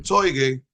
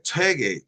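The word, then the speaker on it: Toi-Gye: Y en los patrones, 회계, el 단군, toige, o tegi, o toigei, que lo pronuncian de diferentes maneras, es chuegue, chuegue, chuegue.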